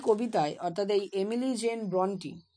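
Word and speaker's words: Brontë: আমরা এই কবিতায় অর্থাৎ এই এমিলি জেন ব্রন্টি, অনেকে আবার ব্রন্টও বলে, কিন্তু অ্যাকচুয়াল উচ্চারণ ব্রন্টি হয়। এখানে ই এর মাথায় দুটো ডট ডট থাকে তার জন্য।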